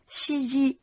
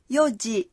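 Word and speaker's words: 四時: 4 giờ không đọc là shiji mà đọc là yoji.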